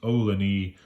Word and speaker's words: Ohlone: They very specifically note that it is pronounced Ohlone after a Native American tribe.